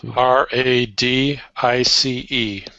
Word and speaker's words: Radice: And then R-A-D-I-C-E. Yes, that's her last name. She pronounces it Radice.